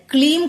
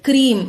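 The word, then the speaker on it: க்ரீம்: தமிழ்லயும் கொடுத்திருக்கிறேன் இங்கிலீஷ்லயும் கொடுத்திருக்கிறேன் இது கிளீம் கிடையாது கிரீம் இதையும் கவனமா ஞாபகம் வச்சுக்கோங்க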